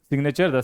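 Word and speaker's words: signature: देख लीजिए यहां पर भी जी एन है। फिर भी हम जी का उच्चारण करेंगे। सिग्नेचर द हस्ताक्षर।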